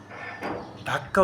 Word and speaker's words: ঢাকা: ঢাকা ইংরেজ শাসনামলে বা আগে ঢাক্কা উচ্চারণ করা হতো। কি উচ্চারণ করা হতো? ঢাক্কা। কিন্তু আমরা জানি সামরিক প্রশাসক লে জেনারেল এইচএম এরশাদ তিনি একটি বৈঠক করেন এবং এই বৈঠকে ঢাক্কা নাম পরিবর্তন করে ঢাকা লেখা হয় এবং তখন থেকে বাংলাদেশের